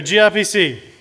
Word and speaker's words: gRPC: wouldn't let them so gr PC or I think it's pronounced group occur right or nice that's the right way yeah he's saying yes I think that's the right way to say it group okay definitely so